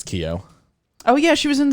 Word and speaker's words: Keough: is riley keough whatever how do you say her last name she's like an an actress yeah i don't i think it's keo oh yeah she was